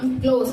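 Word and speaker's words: clothes: அந்த கிளாத் அப்படின்றத நம்ம எப்படி கரெக்டா ப்ரொனவுன்ஸ் பண்ணணும் அப்படின்னு கேட்டீங்கன்னா க்ளோஸ் அப்படின்னு சொல்லிட்டு ப்ரொனவுன்ஸ் பண்ணணும்.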